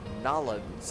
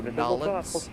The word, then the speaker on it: New Orleans: going to meet at New Orleans or Nalins as some of the locals say. So, Nollins, we're going to Atlanta and Washington.